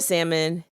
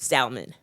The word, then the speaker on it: salmon: He ordered the salmon. He pronounced it salmon. And he was like saying a lot like it was like salmon. And I was like uh like like he emphasized the L.